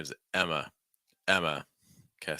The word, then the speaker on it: Emma: is Emma Emma okay so notice that we're not really making that M sound too strong just Emma Emma Emma schw sound again uh at the end it's not ah it's not Emma a it's Emma Emma that takes us through